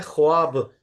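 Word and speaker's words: خواب: खैर तो कुछ ऐसे अल्फाज है जिसमें लिखा जाता है वाव अलिफ एक साथ। ठीक है जी। बट उसका वॉइस सिर्फ अलिफ का आता है। वाव साइलेंट रहता है। वाव बहुत ज्यादा खुल के बोला नहीं जाता हमेशा। जैसे लफ्ज लिखा जाता है ख्वाब। ख वाव अलिफ पे तो आइडियली खवाब या खवाब होना चाहिए ना इसको।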